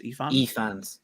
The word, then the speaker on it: Ifans: like the actor who plays Otto Hightower, but Ifans or Ifans, yeah. Right? He's great in the role. But I What's think the pronunciation? Is more powerful. Reese Ifans.